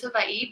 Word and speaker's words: Hawaii: Yeah, so Hawaii is traditionally, or the proper way to pronounce it is Hawaii, because in the Hawaiian alphabet, W's are pronounced in the V sound.